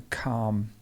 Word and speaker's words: calm: nice and easy but this one is difficult because it has the silent l in the middle this is a silent l and it's calm calm imagine that that l is an r it's a calm this one um lots